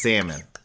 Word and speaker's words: salmon: comment if you disagree i don't trust or believe in anybody that pronounces the l and salmon and hey love is not on the table but salmon is oh yeah yeah no he did it and the chef did and i'm just like it's salmon the l is silent but when he said